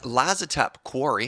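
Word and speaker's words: Lazotep Quarry: All right, next up, I've got the Lazatep Quarry. Did I pronounce that right?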